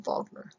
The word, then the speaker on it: Wagner: Remember that the Germans pronounce their W's with V's. So if you know the musician Wagner, they don't call him Wagner, they call him Wagner.